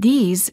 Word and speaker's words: these: sound and a s the word these is plural and is pronounced with a long vowel e and a z sound this these I like